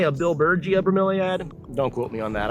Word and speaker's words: bromeliad: tell you it's a bromeliad you know a lot of people come to my tour they call these bromelains i am quite sure it's pronounced bromeliad bromeliad but you know do